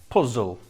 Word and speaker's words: puzzle: as well you see the e on the end of words like puzzle or wobble it's not pronounced it's just there it's